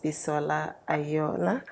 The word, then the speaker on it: Bisola Aiyeola: today we have the very beautiful and gorgeous pisola aola did I pronounce that right yes you did yes you